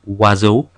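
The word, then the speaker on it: oiseau: sound like in sha I makes a wa sound like in wazo EU makes an u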